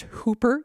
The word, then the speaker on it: Whooper: have told me that this is pronounced Hooper even though it's spelled with a w but if it turns